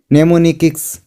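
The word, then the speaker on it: mnemonics: Memory स्थानों के लिए नेमोनिक्स का उपयोग करता है। तो यहाँ पे नेमोनिक्स यहाँ पे इसको है क्योंकि M साइलेंट है नेमोनिक्स।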